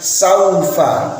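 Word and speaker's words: سوف: Saat membaca saufa harus berhati-hati, karena kalau kita tidak berhati-hati akan berubah menjadi saufa pakai o, padahal yang sedemikian tidak dibenarkan. Karena dalam bahasa Arab, dalam membaca Al-Quran, saufa menjadi saufa, maka bacaannya menjadi miring, dan ini tidak diperkenankan. Harusnya saufa pakai u, saufa.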